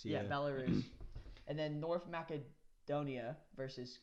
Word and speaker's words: Belarus: Path D though, Georgia versus Belarus, is that how you pronounce it? Belarus, yeah. Yeah, Belarus.